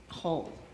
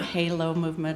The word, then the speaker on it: Holomovement: That's Holo. So if you're trying to remember how to pronounce it, it's not Halo movement or holo.